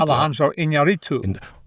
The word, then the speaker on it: Alejandro Iñárritu: Alejandro Iñárritu.